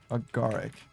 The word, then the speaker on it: agaric: A sinister looking agaric. Maybe agaric? Hold on. Agaric. Oh, it's a type of fungus. Okay. How to pronounce agaric. Agaric is what the British people say.